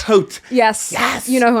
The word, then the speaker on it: Haute: I did see when you were saying Haute and Freddy, but it's spelled H-A-U-T. Haute. Haute.